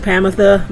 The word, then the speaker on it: Promethea: Do your best to keep up with I'm gonna call her Promethea. It's pronounced Pamitha, but I like Promethea better.